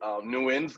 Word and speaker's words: Nguyen: And so I said, yeah, it's pronounced Nguyen. That's correct, right? Yeah, there's a lot of different ways to say it. Nguyen's going to be the easiest way to say